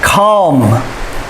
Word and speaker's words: calm: ch sound anxious anxious calm the l is silent and it's the ah sound of the a calm comfortable there are